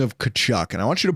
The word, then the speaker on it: Tkachuk: So I say, oh, it's Kachuk. Tkachuk? It's Tkachuk? And then you go, no, that T is silent.